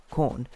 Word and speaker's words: Quorn: Especially when I was younger, like the only one that I really knew about, I suppose, was like corn, spelled with a Quorn.